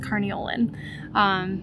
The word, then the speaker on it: Carniolan: Carni is like the slang term, and I believe it's pronounced carniolan.